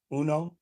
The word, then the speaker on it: Uno: Latrell says, I think it's pronounced Uno. Okay. Okay, like the game.